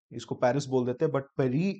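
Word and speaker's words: Paris: organization established in 1974 headquarters are in Peri is the French pronunciation 31 members objectives reliable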